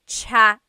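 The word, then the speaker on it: tsaa: Polyglot said it's like the word cha. Cha in Tagalog is t like the tea that you drink. And it's spelled ts aa aa. Cha. Cha. That's such a Tagalog spelling. I love it. There's the ts sound and then the double vowel uh pronunciation.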